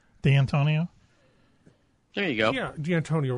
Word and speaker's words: D'Antonio: Yeah, D'Antonio would be... What did I say? D'Antonio? Dan Antonio, which is what sometimes the telemarketers say that, and I just hang up on them.